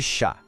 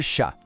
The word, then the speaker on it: chat: Em francês, a palavra é le chat. Preste atenção que o T no final a gente não fala, ele é mudo. E o A tem um som bem aberto. Vamos lá. Le chat. Novamente, le chat.